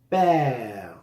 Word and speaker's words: père: Mon père, sonido E abierto, père.